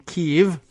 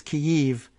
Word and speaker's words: Kyiv: But pronouncing Kyiv is tricky and weird and difficult unless you want to spell it out as K-E-Y, key, and then dash Y-E-E-V would give us the hint that it's Kyiv. And I guess pronouncing it quickly and doing it live on the air I guess Kyiv, without much of a hitch in between, passes for relatively close approximation of the way that the Ukrainians say it.